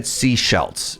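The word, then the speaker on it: Sechelt: In my defense, there's a city in BC called Sea Shelt. All right. All right. Very, very, very similar pronunciation. All right. So, you said seashells. I said seashelt, right?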